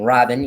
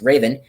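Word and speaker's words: Revan: get confused and i'm calling him robin even though he's pronounced raven i'ma call him raven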